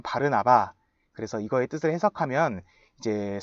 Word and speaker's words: 바르나바: 근데 조금 더 정확하게 발음하면 바르나바입니다. 옆에 있는 꼬부랑 글씨가 이제 아람어라고 해서 예수님 당시 쓰던 말인데 그 아람어에 의하면 바르나바.